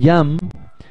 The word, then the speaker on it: Jeame: Siempre me toca deletrear mi apellido porque no es un apellido... común. Sí, no es común, se escribe J-E-A-M-E. Se pronuncia Jam.